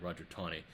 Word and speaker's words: Taney: man named Roger Taney, spelled Taney, but pronounced like there's a W in there, Taney, Roger Taney.